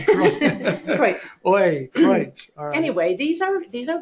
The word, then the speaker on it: Kreutz: But it is Kreutz. Yeah. So think of, oi, my gosh. Oi, Kreutz.